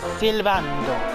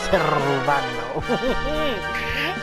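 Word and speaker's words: Sylvando: Silvando. You have to say it like that. And roll the S. Silvando.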